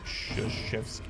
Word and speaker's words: Krzyzewski: It's Shashevsky. Gotcha. I don't recognize that name for some reason. We could probably just stun him. He's got minus 20 speed. It's pronounced nothing like it's spelled.